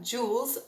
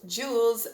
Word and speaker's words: Jules: brock next we have jules jules in french would be pronounced jul and it would only